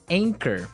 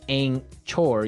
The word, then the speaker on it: anchor: o r right but you don't pronounce the CH as you normally would right another one of these really difficult uh to spell English words right so you don't say anore you would say anchor